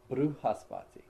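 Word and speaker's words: Bṛhaspati: Brigu, Brigu, Brahaspati, Brahaspati. In South India, you'll hear him say Bruhaspati.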